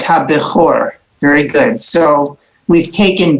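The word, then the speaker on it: הבכור: Let's pronounce the first line then. Habikor. Right, ha-bechor.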